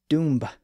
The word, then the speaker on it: dumb: the Old English word Dum which was spelled with a B on the end that's because the word dumb was pronounced Doom in Old English there was also the